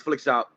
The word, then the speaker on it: Flikshop: shop uh that split that's a flick shot without any c in it so all of you guys who like spelling champions no phonetically leave it out it's flick shop no c um and so as